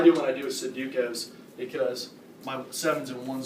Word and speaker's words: Sudoku: What I do when I do is Sudokus, because my 7s and 1s starts all look alike.